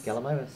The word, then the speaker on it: Gallimimus: Is that how you pronounce it? Gallimimus? Gallimimus.